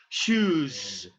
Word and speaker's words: shoes: So the letter S is pronounced as shoes, shoes. Okay, shoes, because you do have vibration.